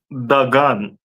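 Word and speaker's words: דגן: Corn is pronounced in Hebrew as dagan.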